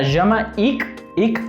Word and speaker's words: Jamaïque: Jamaïque. Cuando veamos K-U-E al final de una palabra se pronuncia ¿ok? Desde la garganta.